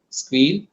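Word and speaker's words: Sguil: So generally, people will pronounce it as a Squeal.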